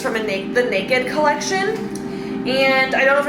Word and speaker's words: NKD: But again, this is from the Naked collection. It's spelled NKD, and it's just so soft and seamless and flattering and comfy, and I love these tops.